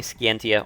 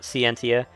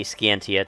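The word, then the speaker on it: Scientia: also note I'm saying skantia only because they that's how they pronounce it in the game uh CU it's mentioned in xenos Saga 3 I like to call it centia but I'll say skantia to be proper I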